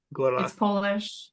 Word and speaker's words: Góra: under the name Gora you say it with the tapped R like the I don't know people say Gora and it's like that's fine but if you want to say it properly it's Gora Gora it's polish yeah exactly you got